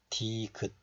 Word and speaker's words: 디귿: And this one is 디귿, 디귿. You also have to close the syllable, 디귿, 디귿.